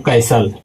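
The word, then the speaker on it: castle: अगला है दोस्तों कैसल दोस्तों एस के तुरंत बाद टी आ गया तो टी यहां पे हो जाएगा दोस्तों साइलेंट क्योंकि इसका नियम है कि एस के बाद तुरंत अगर जो टी आ जाए तो टी दोस्तों हो जाता है साइलेंट। तो इसका पढ़ते वक्त पढ़ेंगे दोस्तों कैसल।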